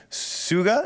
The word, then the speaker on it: Suga: Suga, is that how you say it? From BTS goes solo on August. Suga. It's like Suga. it's like when System of a Down pronounces sugar.